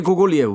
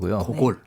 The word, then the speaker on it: 고골: 많아 보이지 않는 니콜라이 고글리의 외투를 읽어보도록 하겠습니다 니콜라이 고글리 아 근데 이름이 요즘에 바뀌었더라구요 코골이랑 고골 아 이게 원래네 발음을 안 하는 건데 옛날에는 그럴 때 영어식으로 읽었던 거군요 러시아에 대해서 이제 많이